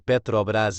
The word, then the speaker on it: Petrobras: petróleo e o brasileiro S Petrobras pronunciado Petrobras é uma empresa de Capital aberto sociedade anônima